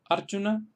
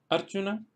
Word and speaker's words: Arjuna: La segunda fila tenemos ejemplos en los cuales se acentúan en la primera sílaba porque la segunda sílaba es corta.